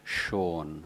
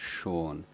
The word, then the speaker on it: Sean: So my name is Sean, my original name is Sean, and he couldn't pronounce this sh sound.